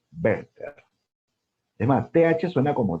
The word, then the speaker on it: Werther: Entonces son las penas del joven Werther o los sufrimientos del joven Werther. Ah, y no se dice Werther, ¿ah? La pronunciación original es Werther. La W en alemán suena como B.